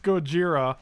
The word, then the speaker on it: Gojira: just fine here right it's actually pronounced gojira let's not be racist